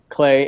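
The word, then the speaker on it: Klei: at Clay Entertainment. That's spelled K L EI.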